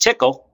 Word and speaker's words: Tcl: on a language we call TCL or again pronounced tickle and it stands for a tool control language